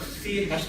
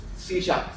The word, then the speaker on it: C#: It's not C#, but the pronunciation is C#.